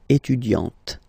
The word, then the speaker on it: étudiante: Okay, you don't really insist on the E, but you insist quite much on the T. Elle est étudiante.